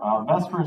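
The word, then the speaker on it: VSEPR: r b s e p r is commonly pronounced best for so when we do investor Vesper stands for valence shell electron or pulse electron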